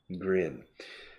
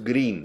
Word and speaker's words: grin: Grin. Pronunciación. Grin. Claro, es la I corta inglesa que los hispanohablantes no soléis imitar bien o reproducir bien. Grin. No es green, se escribe green, pero grin.